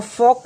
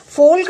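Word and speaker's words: folk: मिला, नो र, और फॉक में हम कैसे पढ़ेंगे, एफ ओ फो, और एल साइलेंट है ओके, फोक। अगर बच्चा फोल्क भी इसमें पढ़ दे रहा है तो कोई प्रॉब्लम नहीं है, क्योंकि अभी वो पढ़ना सीख रहा है।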